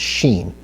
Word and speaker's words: shin: So if the holam is on the right, it's pronounced Shin. If it's on the left, it's pronounced sin, not sin, but sin.